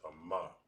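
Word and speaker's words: אמא: then my strong dodge is pronounced as a ma all right a ma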